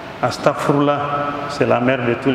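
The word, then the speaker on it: أستغفر الله: la mère de tous les X faut bien prononcer astarfoullah c'est la mère de tous les il faut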